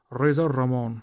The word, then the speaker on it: Razor Ramon: Razor Ramon Razor Ramon razar Ramon yes you have to every time it is the law every time you say his name you have to roll the RS it is like boo